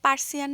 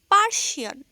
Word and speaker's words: পার্সিয়ান: আসার পর এখানে একটা পার্সিয়ান বিড়ালের সাথে দেখা হয়ে গেল ও পার্সিয়ান না পার্শিয়ান আপনারা তো আবার উচ্চারণে